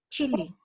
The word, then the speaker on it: Chile: How we pronounce our country? Chile. Chile, yes. La. Y los gringos, ¿cierto? Y dicen, Chile. Chile, ¿cierto? Ahí con 2 I.